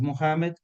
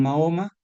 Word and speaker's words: Mohamed: sea de paso eh la pronunciación más adecuada del formador del Islam es Mohamed. Tenemos una versión veriberie que nos llega a través de Marco Polo que se hizo popular donde lo llaman Mahoma, pero el nombre real es en árabe es Mohamed.